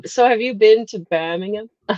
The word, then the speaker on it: Birmingham: so entertaining being in Birmingham like that just listening to people. No, you're saying it American again. It's Birmingham. It's Birmingham.